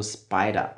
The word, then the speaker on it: SPDR: UCITS ETF, in dem Fall hier von SPDR, also Spider. Ja, SPDR spricht man auch Spider in der Finanzszene aus.